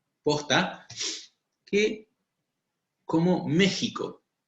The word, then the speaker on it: México: Y la X, pero la X posta, que como México. Se escribe México pero suena México.